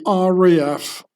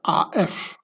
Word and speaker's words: RAF: powers behind the RF which I will only pronounce the German way in order to not be confused. used with the RAF, Royal Air Force. So in German you say RF instead of R AF.